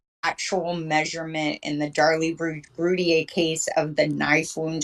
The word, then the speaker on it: Routier: Routier, how you say her name.